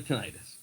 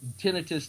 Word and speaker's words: tinnitus: It's just me and the tinnitus. So, that's that and tinnitus though is is just as common a pronunciation.